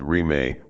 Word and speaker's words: Rime: Thus was born a movement known as Rime, without boundaries, pronounced Rime, which has continued up to the present day.